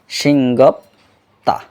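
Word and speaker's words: 싱겁다: আমরা এই শব্দটা মুখস্থ করার পরে, সিংগপ দা শব্দটা মুখস্থ করার পরে আমরা উচ্চারণ করব সিংগপ তা।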